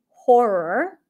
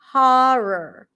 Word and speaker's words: horror: r r r and here you actually have two options it could be horror which is how it's likely to pronounce in the US horror horror or you can also use the Oz and father horor horor here just think of making one long R horror or horror horror